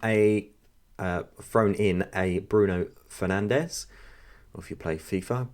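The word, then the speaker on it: Bruno Fernandes: have thrown him a uh thrown in a bruno fernandez or if you play fifa bruno finance um as the commenter says which is actually the correct pronunciation pronunciation but it does make me laugh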